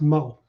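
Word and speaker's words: Meaux: Well, I made the video, and a guy named Moe. It's M-E-A-U-X from Louisiana. it's pronounced Moe.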